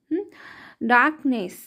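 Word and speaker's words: darkness: पर ज्यादा ध्यान दीजिए आप डाक नेस र का साउंड ज्यादा नहीं आएगा ब हल्का सा आएगा बस हल्का सा आएगा डार्कनेस डी ए आर डा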